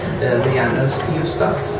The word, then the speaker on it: Leanne Eustace: to listen now and meet our next speaker, Leanne Eustace. I think that's pronounced correctly.